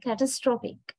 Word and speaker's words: catastrophic: is the noun right but when you turn it into an adjective when the word class is changing you can notice the difference if the pronunciation of the second syllable it is catastrophe a sound is there but this sound is replaced by a sound in the adjective we say catastrophic catastrophic now earlier we stress